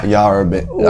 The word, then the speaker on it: Yarra Benders: The Yarrabenders. Yeah, I just want to make sure I pronounced it right. Yeah, Yarrabenders.